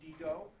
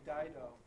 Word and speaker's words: Dido: english whether you can use the latin pronunciation digo or the english pronunciation dido uh maybe you're better